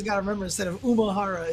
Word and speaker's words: Umehara: I used to always call Daigo Umehara, and like people would always tell me it's Umehara. So I'm like, all right, it's Umehara.